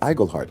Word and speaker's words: Iglehart: Before this show, no one could pronounce my last name. Now they know it's Igglehart.